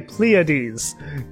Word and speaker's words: Pleiades: I have to remember to say Pleiades.